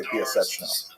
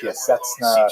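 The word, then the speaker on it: Piaseczno: One is Moshe Cordovero, everyone thinks it's Cordovero, and the other one, and hardly anyone knows how to say Piaseczna. They say Piaseczna, things like that, but oh well, I guess that's ironic.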